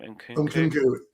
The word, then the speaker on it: Nkunku: Nkunku.